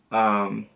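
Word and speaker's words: ouais: the fuck, O-U-A-I-S, so you do not pronounce the S, but you pronounce it way.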